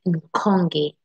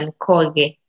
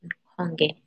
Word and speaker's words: Nkonge: Yeah, my surname is Nkonge. Nkonge is my name. Last time, Monica, in your live, ulikuwa unasema Nkoge. Koge. Ulikuwa unasema Koge. Oh, nikuwa kama naweza ingia kwa hiyo screen. Nikufanya hivi, like, nikuambia, no, sio Koge ama Nkoge, hiyo venye ulikuwa una pronounce. So my surname ni Nkonge, Nkonge, like venye tunajiita kwa channel yangu Tracy Kainde.